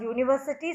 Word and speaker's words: university: See, U is a vowel, but we have used the article a because university sounds as Y.